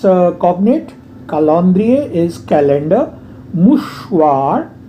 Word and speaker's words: mouchoir: मुशवार R है last में, pronounce करेंगे.